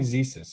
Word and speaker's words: Zissis: Zissa? You can call me Zesis.